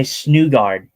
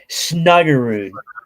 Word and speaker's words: Snuggerud: But I see how you see it because you usually say Snugard. Snugard is what you say. Yeah, Snugard, but it's Snuggerud.